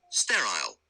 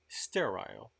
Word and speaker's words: sterile: Pay attention on this pronunciation. Sterile. Sterile.